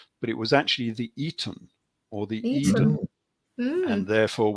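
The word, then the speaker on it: Aten: Reed Griff glyph and that's pronounced with an E more than an A so we normally say the arten but it was actually the Eaton or the Eden and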